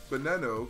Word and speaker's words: Veneto: you did you know the Veneto is actually pronounced Veneto because these equals B in Italian I don't believe you